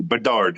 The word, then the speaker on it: Bedard: I don't know why I thought there was like an N in there or something like that. No, Bedard. It's not Bedard.